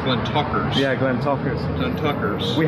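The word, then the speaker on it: Glentauchers: is fantastic and it is really it's actually pronounced Glenn Tucker yeah Glenn talkin Tucker's we had one old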